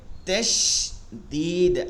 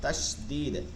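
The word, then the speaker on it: تشديد: ঠিক আছে, 2টা হরফ আছে, 2টা হরফ আছে, তাহলে এটাকে বলে তাসদীদ। আরবি শব্দ তাস, তাস, তাসিন, তাসিন, দাল, ইয়া, দাল, মানে তাসদীদ, তাসদীদ, তাসদীদ। এটা আবার পেন নিলে আর চলে না, তাসদীদ।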